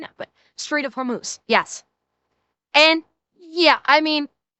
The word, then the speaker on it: Hormuz: didn't I my apologies the straight of hormuse not hermouth I don't know why